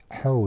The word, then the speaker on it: Hau: But you have to be careful how you pronounce it, because Hau is the bay and Ho is body hair.